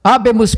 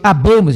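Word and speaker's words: habemus: Até mesmo láes alguém pronuncia errado, pronuncia abamos. É latim. As palavras em latim a maioria são palavras oxítoras. Então, como domine, dominos e habá. Então, daí abemos e não abemos.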